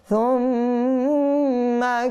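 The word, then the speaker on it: ثُمَّ: তো এখানে নিয়ম হচ্ছে সা আমরা হালকা করে উচ্চারণ করব, আর মিমের মধ্যে গুন্না করব। নুনে মুসাদ্দাত মিমে মুসাদ্দাত সব সময় গুন্না করে পড়তে হয়, এই জন্য এখানে আমরা সুম্মা এভাবে গুন্না করব।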